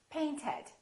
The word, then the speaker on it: painted: Paint ends with a T. Therefore, the past tense is painted.